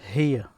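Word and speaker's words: هي: In Arabic, it's here.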